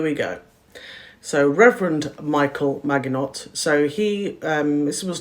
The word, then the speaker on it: Maginot: is where Reverend and I don't know exactly how to pronounce this but I think it's Maginot m a g i